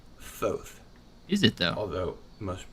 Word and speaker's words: Thoth: It's correctly pronounced Thoth.